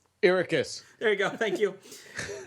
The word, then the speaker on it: Arrakis: Ericus.